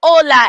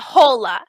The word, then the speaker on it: hola: says like ooh shiny h in spanish makes no sound at all it's true every time you see an h it doesn't make a sound that's why we say ola and not hola and the word hotel